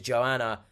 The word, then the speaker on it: Johanna: I'm assuming you don't pronounce the H in Johanna. So it's Joanna.